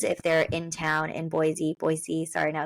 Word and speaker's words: Boise: It's Boise, not Boise. I think it's with a snake, like Boise. like a zebra sound.